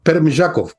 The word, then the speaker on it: Permyakov: El ucranio se pronuncia un poquito distinto al ruso. Permyakov.